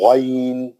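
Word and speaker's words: غين: کا آواز اوپری حلق، اور اگر آپ اس کو اوپری حلق سے پڑھے تو اس کا گیٹ اپ آتا، اس کا صحیح تلفظ ادا ہوتا، جیسا غین پڑھنا ہے ویسا ہوتا.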